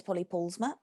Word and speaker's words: Polly Paulusma: potted history um so my name is paulie paulsma which is a funny dutch canadian name that no one can pronounce um i wasn't born